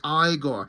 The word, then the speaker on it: Igor: like pretending like he's Igor. He's like, Dr. Frankenstein, my name is Igor, but it's pronounced Igor.